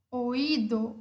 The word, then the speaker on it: oído: uma vogal forte, ela é uma vogal tônica. Por isso, o acento cai sobre ela, sobre essa vogal fechada, e temos o hiato. Oído, oído, oído.